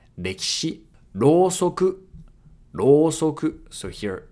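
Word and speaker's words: 歴史: So here the E sound in ki can be devocalized. Rekishi.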